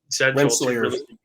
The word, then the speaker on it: Rensselaer: Rensselaer. Yeah, that's correct. Correct pronunciation, Brian.